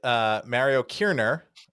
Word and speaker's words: Kirner: We're here with Mario Kirner. I'm using his proper German pronunciation.